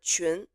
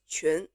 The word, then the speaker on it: 群: And also for qi, like my given name has this character 群, which is very hard for English speakers to make because it contains this qi as the 声母.